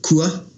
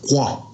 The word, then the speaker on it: kua: So, you know, South Taranaki's like for kua, K-U-A. So North Taranaki, our old people used to pronounce it kwa, like more of a K-O-A.